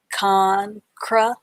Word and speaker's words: concrete: has the tusk sound this e here is uh is silent when you say this word but you still have to write it when you spell it con cro eat concrete eat concrete concrete concrete